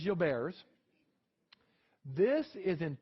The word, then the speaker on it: Gilbert: It was named by a French physician. All right. The correct pronunciation is Gilbert's. It is not Gilbert's. It is Gilbert's.